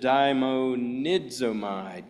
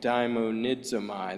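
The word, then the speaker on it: δαιμονίζομαι: In other words, the Greek word, if you're not familiar with it, I'll just pronounce it daimonidzomai, daimonidzomai. That's the Greek word for that, but we translate it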